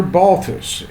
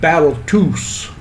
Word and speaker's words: Balthus: question and she said you're balthas and he answered back no i'm battletoos that's how he pronounced his name he grew up in